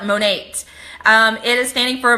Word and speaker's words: Monat: Monique Monique we so a lot of people want to say like how do you pronounce it I for one down here in Texas I call it mo Nate it is standing for